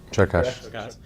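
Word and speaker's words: Csokas: Yeah, Chokas.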